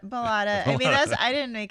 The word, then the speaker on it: Ballotta: I'm going to say Ballotta, but it's not. Ballotta. Correct? Ballotta.